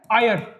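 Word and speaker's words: heir: उत्त अधिकारी ठीक है अब देखिए इसमें एच साइलेंट है पर आवाज वाउल की आ रही है तो इसलिए एन आया स्टार्ट ये कंसोनेंट हो रहा है बट आवाज हमारी आवाज किससे आ रही है साउंड एक वाउल की है व वन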